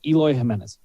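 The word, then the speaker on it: Eloy Jiménez: we got to get his name right it's eloy jimenez but i love when you miss pronouncing go ahead okay elohim is easy easy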